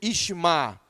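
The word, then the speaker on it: יִשְׁמַע: Mas a palavra ouvir aqui, ouviu, é o verbo hebraico chamar, que significa ouvir, e está numa forma em que vem na pronúncia Ishma. Abraão, Ishma, Sara, de onde vem o nome Ismael.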